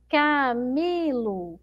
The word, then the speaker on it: Camilo: Camilo, Camilo. Ó, qual sílaba aí a pró demorou mais pronunciando, ó? Camilo, Camilo. Então a sílaba mais forte é o mi, não é?